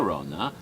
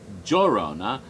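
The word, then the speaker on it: Llorona: say your honor your yorona giorona and giorona all of which are rona those are all different dialects or different ways of pronouncing the ll because one is almost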